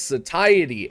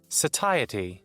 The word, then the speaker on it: satiety: first thing we're going to talk about is satiety and yes that is how it's pronounced and just to prove that here's google to say it for you satiety so now that we know how to actually